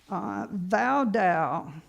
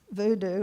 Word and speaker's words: Voudou: This is called Voudou doll, V-O-U-D-O-U. It's not supposed to be pronounced voodoo, it's Voudou.